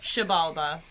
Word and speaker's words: Xibalba: Xibalba. Okay. The X is a sh.